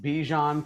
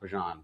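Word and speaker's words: Bijan: as as long as Bejon plays well or Bjon I believe it's pronounced Bjon Bjan Robinson he watching him play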